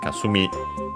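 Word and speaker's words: 霞: uh the corresponding noun kasumi should be unacented or fully uh by by following the rules and it is kasumi which means uh mist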